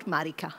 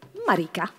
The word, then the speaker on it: Marika: And Marika or Marika? How do you say? Marika.